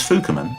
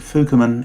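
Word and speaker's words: 福面: The name for masks worn by these miners takes the character fuku, covering, and replaces it with another character with the same pronunciation, fuku, but with the meaning lucky.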